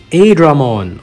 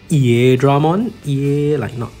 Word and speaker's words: Airdramon: And for today's log, we have Airdramon, or actually the correct pronunciation is Airdramon.